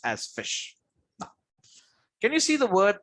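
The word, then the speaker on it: ghoti: pronounce it as duty some of you might pronounce it as gotti some of them are pronounced gothi or some of the pronounces okay fine but if i pronounce it it would be called as called as fish okay now you all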